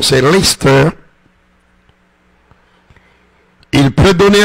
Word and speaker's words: Leicester: Il y a des gens qui disent Leicester, mais généralement ça se prononce en Angleterre Leicester.